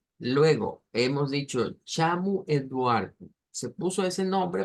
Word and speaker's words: chamo: o que sea Portugal, siempre al final de las palabras las O se pronuncian como U. Entonces, chamu, Eduardo, es sonidos, digamos, con ese acento.